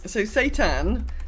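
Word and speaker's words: seitan: It's so Satan, spelled like this, is it's like a wheat protein.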